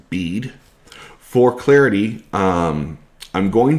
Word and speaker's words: Bede: written by saint bead that's b e d e apparently pronounced bead for clarity um i'm